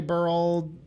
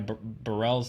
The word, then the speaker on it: Burrell: You mispronounced Ty Burrell's name the same way that people usually mispronounce my name. It's like you said Ty Burrell, like you actually say Merle, and people say Morel like they Morel. actually say Burrell.